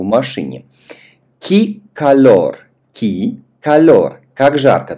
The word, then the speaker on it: que: Ки калор, ки калор. Как жарко. Ты помнишь, что в данном случае э у нас в безударной позиции, поэтому произносим ки.